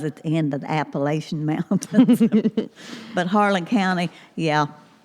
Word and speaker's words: Appalachia: That was at the end of the Appalachian Mountains.